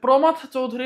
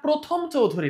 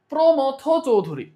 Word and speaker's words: প্রমথ চৌধুরী: প্রমথ চৌধুরী ঠিক আছে প্রমথ চৌধুরী না প্রথম চৌধুরী না অনেকেই হচ্ছে এটার নাম উচ্চারণ করতে পারে না ঠিক মত প্রমথ চৌধুরী ওকে ওকে প্রমথ চৌধুরীর